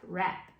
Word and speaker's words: wrap: But I'll tell you why I don't want you to just say WR says app, rap.